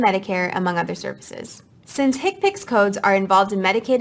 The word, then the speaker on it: HCPCS: common procedure coding system hcpcs commonly pronounced as hipic are a set of